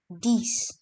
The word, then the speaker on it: dix: And at last comes 10, which is pronounced as dix.